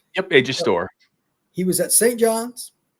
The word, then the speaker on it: Storr: AJ Storr, is that how you pronounce it? Am I saying that correctly? Yep, AJ Storr.